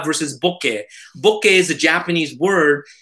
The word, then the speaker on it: bokeh: to say it it doesn't matter if it's mispronounced this is the way they want it's like boca versus bokeh bokeh is a japanese word invented in like